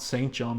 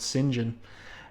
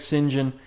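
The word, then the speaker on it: St. John: Pyro's first name there and that's how you pronounce it by the way not St John but singen Frederick singen if you would please show these welps what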